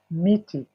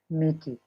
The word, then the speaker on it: miti: Mti is the singular. The plural is miti. Michi. Yes, miti.